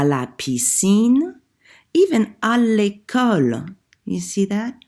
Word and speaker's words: à l'école: And for à l'école, école happens to be feminine, but even if it were masculine, we would have to say à, L apostrophe, because it begins with a vowel.